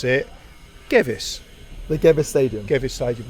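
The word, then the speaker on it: Gewiss: kickoff at the G whs Stadium actually pronounced gavis Stadium he I asked him before is that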